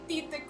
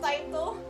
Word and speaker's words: Tite: Okay, Tite Kubo is not his real name. It's a pen name. Um... It's pronounced like... It's pronounced like the English word tight, apparently.